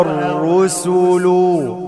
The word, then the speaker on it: الرسل: يا أيها الرسل، أرقق السين، سين ضم سو. يا أيها الرسل كلوا من الطيبات واعملوا، الألف لا تنطق، واعملوا صالحا.